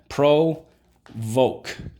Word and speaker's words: provoke: Underline the O, and the silent E twice. Draw an arrow back. Why? You got it. Because in this case, the silent E makes the O say O. Now, the O can say O at the end of a syllable. That is Rule 4.